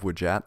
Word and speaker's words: Wdjat: Side note, I've been calling this the Eye of Wujat since I was a kid, which is close to one of the accepted pronunciations, but I believe that